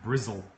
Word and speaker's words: Bristol: If she was from the UK, her name would be pronounced Brizzle. Brizzle. In Bristol. What? In Bristol, they call Bristol Brizzle.